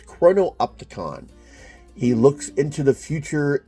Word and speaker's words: chrono-opticon: So it's chrono-opticon.